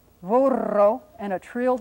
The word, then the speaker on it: burro: And then another word, burro, that's got that trilled R, so we'll get some more practice with that.